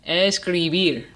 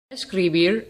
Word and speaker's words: escribir: to last syllable now let's try the word escribir I'll say it one more time escribir escribir is Agatha because the emphasis is on the last syllable beer now the last word